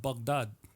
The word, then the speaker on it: Baghdad: Um you know, and it's something that Not to interrupt you, but I was told it's pronounced Baghdad.